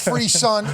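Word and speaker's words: frisson: So, you need to lock it in up there with Fre song pronounced fre sun is a French word adopted into English meaning a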